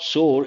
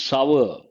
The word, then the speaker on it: sour: People mispronounce this, it is not sore, it is sour.